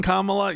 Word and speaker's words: Kamala: Like Camala Harris uh Re something that voters appreciate is you will say her name right. I'm so tired of this This is my queen Kamala.